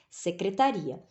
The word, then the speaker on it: secretaria: é chamada de secretária viram que a pronúncia mudou por que que a pronúncia mudou porque a sílaba é é porque a sílaba tônica né ela muda lá então nós temos aqui